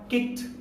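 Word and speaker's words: kicked: यानी जब हम इसके उच्चारण की बात करेंगे तो क्या हो जाएगा, हमारा प्रोनाउंसिएशन हो जाएगा किक्ड, किक्ड। यहाँ पर ड का प्रोनाउंसिएशन नहीं होगा।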